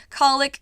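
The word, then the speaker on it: cowlick: Colic, cow tongue. Colic is actually spelled cow-lick, but for some reason, I don't know why, people pronounce it colic.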